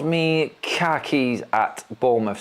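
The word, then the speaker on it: Kerkez: it's uh L me KH keys at Bournemouth so you pronounce it KH Keys KH Keys you lost your car keys everyone where's my keys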